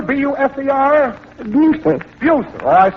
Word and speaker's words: Buser: Now, Minnie, the name, madam, is that Buzzer, B-U-S-E-R? Buser. Buser. Oh, I spelled it correctly. I probably mispronounced it.